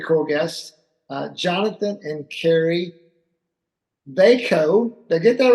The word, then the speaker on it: Vajko: We are going to talk about that subject today with a wonderful couple, Jonathan and Carrie Vajko. Rhymes with Waco, even though they're not from Texas.